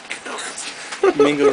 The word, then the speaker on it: Mingo: Mingo rhymes with dingo.